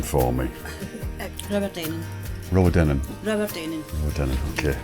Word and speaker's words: Rowardennan: If you could pronounce the name for me. Rowardennan.